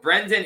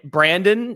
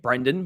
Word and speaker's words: Brendan: and sometimes I think people get caught saying brand Brandon even though there's an e there um I really